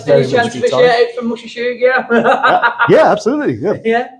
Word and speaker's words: Musha Shugyo: John, any chance of a shout out from Musha Shugyo?